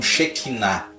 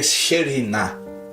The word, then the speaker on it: Shekhinah: E nós aqui no Brasil pronunciamos como Shekinah, mas a pronúncia correta seria Shekhinah, né?